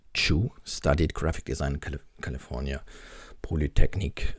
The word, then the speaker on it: Chue: but raised in Fresno Luke 2 pronounced Chu studied graphic design California